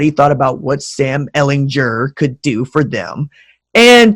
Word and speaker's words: Ehlinger: Sam Hard G Ehlinger. I call him Hard G.